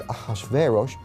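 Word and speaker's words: אחשורוש: Now, that was hard for the Jews to pronounce, so they said Ahashverosh.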